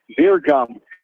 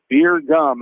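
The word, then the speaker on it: Bjergum: Beer gum. B J E R G U M. Beer gum. It's pronounced the freshman runner first base for the minutes for strike two.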